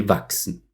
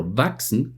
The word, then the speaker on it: wachsen: Quiero destacar el último ejemplo, wachsen, crecer, por un momento. Por supuesto tiene una S como última letra, pero la combinación de las letras CHS pronunciamos como una X.